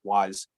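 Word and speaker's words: Wwise: say wise but i'm pretty sure it's just pronounced wise w-w-i-s-e and it's made by a company called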